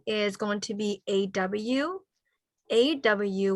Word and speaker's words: aw: AW, we pronounce it like this. For the vowel, okay. So in English, like law, all right. Saw, in Hmong, shall, all right. So in the vowel in Hmong, AW, all right, that's how you pronounce it.